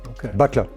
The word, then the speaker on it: Bouteiller: pronounce your family name my family name is pronounced butler in english if we find an equivalent word with so could you